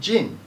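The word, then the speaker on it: 人: The word for person, or the kanji for person, is hito. Hito, meaning person, when used in part of a sentence, is pronounced as jin.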